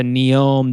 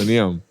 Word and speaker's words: Neom: So it went from being the line city to Neom, the district.